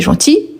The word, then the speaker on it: gentil: Est gentil. On ne prononce pas le L quand on s'exprime à l'oral.